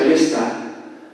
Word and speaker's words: Leicester: Por poner un ejemplo, la ciudad de Leicester, que en inglés se pronuncia Leicester, los rusos lo ponen en cirílico como Leicester, no como Leicester.